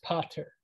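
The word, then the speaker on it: pater: the english word father it's just pronounced and spelled differently a little bit it's potter and p-a-t-e-r um there is one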